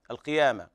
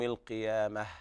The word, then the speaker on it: القيامة: وهنا تاء التأنيث يوقف عليها بالهاء لأنها تاء مربوطة، ففي حال الوصل تقرأ تاء وحال الوقف تقلب هاء، فيكون النطق هكذا لا أقسم بيوم القيامة، والهاء ضعيفة ولا داعي للمبالغة فيها.